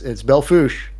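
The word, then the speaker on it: Belle Fourche: There's a great town called Belfouche, and it is not written that way, but it's Belfouche, or lead.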